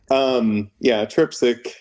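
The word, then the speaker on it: Trpcic: Is that how you pronounce her last name? Because I always Turpchik. Because it's just a bunch of consonants in a row, and I'm just never sure.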